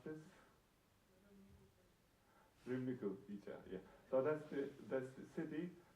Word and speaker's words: Râmnicu: And how do you pronounce this? Râmnicu, yeah.